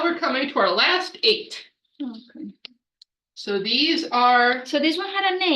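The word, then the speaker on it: ætt: of eight called the eights very creatively it's spelled AE TT but it's pronounced eight because it's the word eight um so it starts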